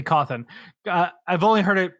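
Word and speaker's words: Cawthon: was created by scott calthan cawthorne yeah he is so he started as o.r calthan yeah c-a-w-t-h-o-n h o n charlie alpha whiskey coffin yeah it'd be coffin uh i've only heard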